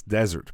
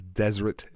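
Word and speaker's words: Deseret: know desert that word some people always think I'm saying it wrong or spelling it wrong when I write it down they think it's desert but it is desert and if you're watching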